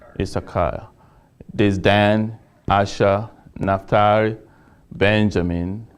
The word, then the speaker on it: Issachar: It's Issachar.